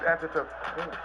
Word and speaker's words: Antetokounmpo: But even it's Antetokounmpo. It's like a P. Kumbo.